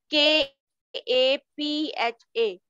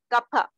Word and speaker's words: kapha: Then kapha, K A P H A, kapha. The pronunciation is kapha.